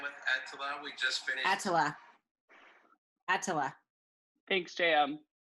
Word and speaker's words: Etila: So the way to properly pronounce your name is Attila.